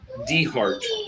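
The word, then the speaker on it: DeHart: Well, it's it's it's spelled Delta Echo Heart. Deart. Not that D. Yeah. D E H A R T.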